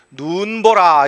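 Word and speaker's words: 눈보라: 요 단어의 첫 음절에 있죠? 그럼 이건 긴 소리를 그대로 유지합니다. 그래서 눈 보라 이렇게 되는 거예요.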